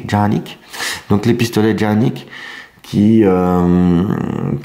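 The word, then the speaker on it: Canik: Oui, parce que ça se prononce Janik. Voilà. Et pas Kanik, mais Janik.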